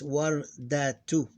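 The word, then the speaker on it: وردة: You pronounce the two here as if it was written like this, wardatu.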